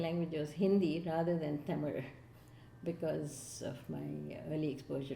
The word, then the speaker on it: Tamil: Properly pronounced, it is Tamil. Anglicized, it is Tamil.